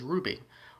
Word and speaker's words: RWBY: just so happens that her team's name is Ruby but it's spelled r-w-b-y so it's just one of those